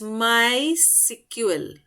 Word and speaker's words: MySQL: It is pronounced as MySQL.